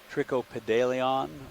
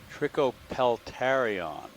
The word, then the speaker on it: Trichopeltarion: or something like that not sure if i have the pronunciation quite right let's see if i can look it up video's clear that's clear that's great video thank you sorry pilot all right trichopeltarion i was close there's a white something